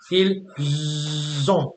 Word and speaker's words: ils ont: This is how you tell they are and they have apart in French. By the S or the Z sound, yeah?